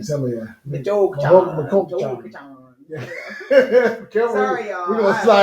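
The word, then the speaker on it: Michoacán: Yeah, it's an Michoachan. Some of you. Michoacan.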